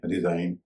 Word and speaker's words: resign: जी भी एन से पहले साइलेंट हो जाता है अगर GN शब्द के अंत में हो, जैसे साइन, SIGN साइन, RESIGN रिजाइन, FOREIGN फॉरन या फॉरेन। इन सब में आखिर में GN है, GN से पहले है और जी का उच्चारण नहीं होता।